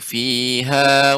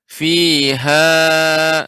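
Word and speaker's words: فِيهَا: Ya, akan tapi fihanya berlebih Bapak. Kalau Yes, kita membacanya fiha, nah ini sudah lebih dari 2. Dia cukup fiha wa la yahya. Fiha, jadi cukup hanya 1 kali tekan saja.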